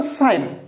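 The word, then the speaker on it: sign: देखो एठी लक्ष्य कर साइन कोन पढ़ा जीवो साइन एस आई जी एन साइन तो जी टा कोन होबो साइलेंट रहइबो देखो देतु एन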